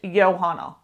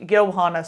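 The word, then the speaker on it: Johanna: in the story and the audio book has actually T taught me that it's pronounced yohana so yeah that her name is pronounced yohana spir but yeah so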